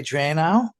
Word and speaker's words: Dranow: I'm pronouncing that right, or Dranow, It's like who, Liquid Plumber, just like Liquid Plumber. well, he also is the only Dranow or Dranow on the, Drano, yep.